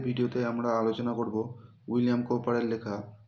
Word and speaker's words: Cowper: ডব আই উচ্চারণ যেটা হয় সেটিকে তারা বলে ভি আই তো ভিলিয়াম বলে কৌপার এই উচ্চারণে যে আর আছে শেষ সে আর এর উচ্চারণ কিন্তু হবে না এটার উচ্চারণ হবে কপা